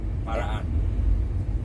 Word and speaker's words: Parakan: Whereabouts in Paraan or Parakan or wherever it is? Whatever you pronounce it. Paraan.